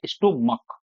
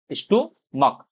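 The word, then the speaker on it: stomach: जैसे अगर मैं बोलता हूं जो हमारा पेट होता है, इंग्लिश में इसको बोलते हैं स्टोमक, स्टोमक। और जो सी एच का साउंड है वो क्या है?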